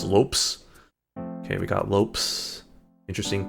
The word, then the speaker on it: Lopez: Lopez. Good old Lopes. Cuz antelopee I guess. Lopes. Uh so maybe we should just pronounce it as Lopes.